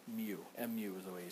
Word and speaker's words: mu: the normal force okay coefficient of friction we pronounce it mu it's a Greek letter mu it's kind of like a script U okay